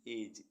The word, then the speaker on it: edge: ऐसे वर्ड्स जिनमें alphabet D silent रहता है। BRIDGE ब्रिज, ब्रिज मीन्स पुल। EDGE एज, एज मीन्स किनारा।